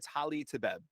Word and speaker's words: Hali Tebeb: It's Hali Tebeb. That's how you say it.